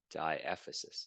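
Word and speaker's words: diaphysis: of the long bone that is called the diasis that's how you pronounce it diasis it's just the chef the length of the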